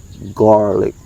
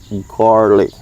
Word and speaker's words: garlic: Okay, so the sound of garlic, when you say this, it sounds like the word car, R. Okay, that's why I say garlic, garlic.